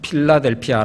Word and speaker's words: 빌라델비아: 하시는 말씀을 들을지어다 아메 빌라델비아 빌라델비아 는 필라델피아 라고 발음을 해도 되지요 미국에도 필라델피아가 있죠 필라델피아는